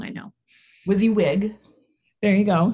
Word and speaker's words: WYSIWYG: ago so i'm saying it wrong i know wizzy wig there you go say i knew i was saying it wrong wizzy wig and it's my motto what you see is